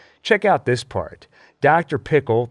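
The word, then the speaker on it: Pyckle: Pickle, that's pickle with a Y like Jekyll, but pronounced pickle like dill, as this helpful title card points out.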